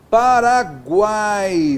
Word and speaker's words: Paraguai: Paraguai, veja só, o A é vogal, aqui o U é semivogal e o I é semivogal. Paraguai, está vendo só? Tudo na mesma sílaba. Olha só aqui, ó, Paraguai. O A é o tom mais forte.